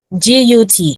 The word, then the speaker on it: gut: G-U-T. When like my gut tells me something. It's a short U sound. So my gut tells me, my gut. So it's the same as bus, it's the same